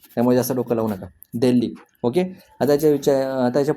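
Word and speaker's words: Delhi: हे जातो उच्चार जातो त्यामुळे एच हा सायलेंट येतो तिथ आपल्यासाठी तो सायलेंट आहे ठीक आहे दिल्ली दिल्ली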